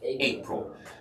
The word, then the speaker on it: April: English live close ail April emphasis on the first syllable April okay and of